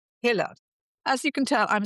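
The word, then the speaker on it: Huelle: it's spelled hue e l e but it's pronounced hiller.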